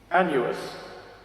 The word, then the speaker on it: Annuus: Annuus. Not anus, by the way. It's spelled wrong.